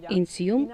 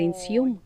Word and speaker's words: INSIUM: Інсм означає мрія. Ми змінили наголос, оскільки іноземцям важко правильно прочитати його, тому тепер це нсм, але сенс залишається мрія.